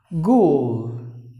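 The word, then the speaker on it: ghoul: next word is gule gule like the H is silent and the W is silent just imagine that there are two O's o longhand gule gule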